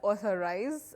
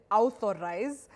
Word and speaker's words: authorize: Now, authorize, no. Authorize, yes. Just like August, not August. The month of August. Now, you realize we have A and U, what we call a vowel digraph.